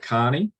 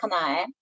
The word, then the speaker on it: Kanae: Is it Carney? I think I've pronounced that correctly. Hi, my name is Kanae. Sorry, Kanae.